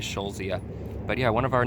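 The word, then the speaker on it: Eschscholzia: is Michelle Zia and that's a really weird spelling e SCH SCH olz IA so to s CH is in a row but I believe you just pronounce it as sho Zia but yeah one of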